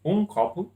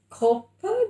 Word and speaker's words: copo: A copa de água. Copo. Oh, it's male. Copo de água.